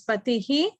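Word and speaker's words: पतिः: It's Patihi. Okay. So the last syllable is Ti, right? So when the H follows it with a dot under, so it becomes the same sound, the same vowel is used. So it is he.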